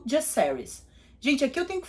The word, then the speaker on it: Jacaerys: E as 2 pessoas falaram Jacaerys, que foram o Viserys e o Criston. Os 2 chamam ele de Jacaerys. Então, pelo visto na série, a pronúncia é essa, e eu vou usar